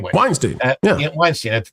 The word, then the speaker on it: Weinstein: Weinste Weinstein Weinstein I don't know how to pronounce it anyway. Weinstein Yeah yeah Weinstein at the time and and